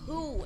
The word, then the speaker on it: Hu: Who or saying Mr. Who. Who can't? No, who, as Yeah. in H-U, not W-H-O. Yeah. H-U. His name is Who, as in I know, but H-U.